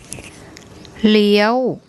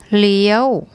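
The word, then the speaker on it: เลี้ยว: where I told you that this combination, the Sara A, the Sara E, the Yor Yak and the War Wan, make an eel sound, and there's a Law Ling initial consonant.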